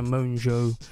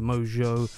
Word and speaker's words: Mongeau: name is pronounced Tanner moans oh I think the N is almost silent so it's like moans OH as opposed to mojo someone in the comments